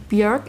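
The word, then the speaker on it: Björk: second studio album from bjerg it rhymes with jerk and coincidentally my second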